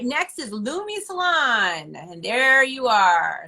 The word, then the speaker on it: Lumi: who's around my children all right next is lumi salon and there you are star uh serena applewhite is the owner of lumi salon is it lumi l-u-m-i am i saying it right yes you